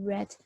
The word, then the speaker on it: read: reading this book but if you were to say in the past tense you would say red so it's more about